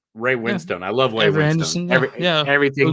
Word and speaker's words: Winstone: And Ray Winston too. Winstone. Ray Winstone.